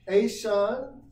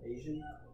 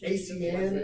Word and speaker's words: ASEAN: But yeah, ASEAN or ASEAN is the Association of Southeastern Asian Nations. That's the one with Malaysia and Sumatra and Vietnam and Cambodia. Asian? Huh? Asian? Technically not how it's pronounced.